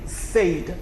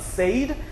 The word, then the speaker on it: said: word is not saved I've heard people say Sade for that word it's not Sade it's sad that a I've SSS